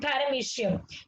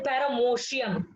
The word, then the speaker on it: paramecium: And these are the examples: amoeba, bacteria, and paramecium. You should not be pronouncing it paramecium. Okay, it is paramecium.